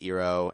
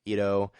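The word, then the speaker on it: Iroh: um but something like in the show pronounced iro here is pronounced ero and maybe should have pronounced like ido something like that would make sense um i also see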